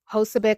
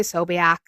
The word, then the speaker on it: Posobiec: I think it's Posobiec. I always say Sobiak. If you look into that man, there's a video on the internet, okay, of Jack Sobiek, Posobiec, however you say his name.